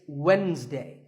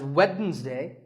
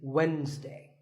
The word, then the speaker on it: Wednesday: of the week it's Wednesday the D is silent sometimes it's pronounced as Wednesday but the proper way to say it is Wednesday what about this word